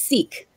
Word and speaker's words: Siike: questions um it's pronounced seek yeah see yeah with like uh with with an s like hide-and-go-seek exactly tell us um